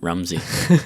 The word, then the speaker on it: Ramsey: I had a friend named Ramsey, but you pronounce it Rumsey.